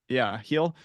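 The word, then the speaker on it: Heil: John Paul Heel, I think is how you pronounce it, Heel.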